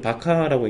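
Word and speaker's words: VARCHAR: 그럴 때 이제 바차라고 많이 읽는데, 얘가 우리나라 사람들은 바차라고 읽고 미국 사람들은 바카라고 읽는 것 같아요.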